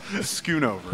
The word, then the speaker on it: Schoonover: No one ever pronounces my name right. Schoonover.